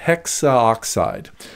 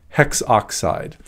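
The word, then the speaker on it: hexoxide: as it turns out there is another little rule that we use here especially whenever we have an A next to an O whenever we have that specific vowel combination we drop the a so instead of saying hexaoxide we call this tetraphosphorus hex oxide that's a little bit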